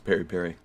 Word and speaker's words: peri-peri: end this p-e-r-i twice what is this it's Perry Perry it's like a it looks like a hot